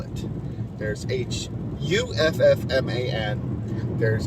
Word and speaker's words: Hoffman: name is so weird i pronounce it huffman it's not hoffman uh i don't if